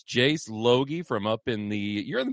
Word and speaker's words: Loge: It doesn't look like that, but it's Jace Loge from up in you're in the Bemidji area?